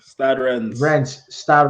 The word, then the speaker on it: Stade Rennes: yeah, Stade Rennes.